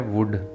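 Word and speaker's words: would: इसलिए L silent है वर्ड है वुड यहां भी एल के बाद डी आ रहा है इसलिए यहां पर एल साइलेंट हो रहा है और वर्ड है टॉक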